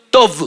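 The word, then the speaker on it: טוב: es una palabra que tiene como pronunciación tov, o sea, T-O-V chica, tov. Pronunciación, porque la escritura es muy diferente en el hebreo, porque son figuritas. Pero para su pronunciación es tov.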